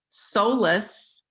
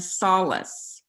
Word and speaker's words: solace: And there's actually two pronunciations of the word, solace and solace.